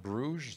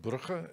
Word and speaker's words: Brugge: And there you'll see a vial of Christ's blood, which is housed in the most beautiful city of Brugge, Belgium, not Bruges, as the French would pronounce it, but Brugge, as my father, who was born there, would pronounce it.